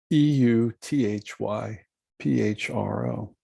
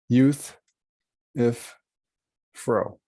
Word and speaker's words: Euthyphro: plato called the euthyphro e-u-t-h-y p-h-r-o euthyphro youth if fro euthyphro sometimes people have a